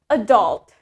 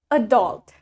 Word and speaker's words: adult: America the stress for the word adult is in the second syllable let's say it with me adult adult in British adult in